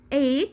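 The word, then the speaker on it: eight: الجي والاتش هنا سايلنت ليترز، يعني حروف صامتة ما بنطقهاش. بقول رايت. نايت اللي هي معنى الليل. 8 اللي هي رقم 8.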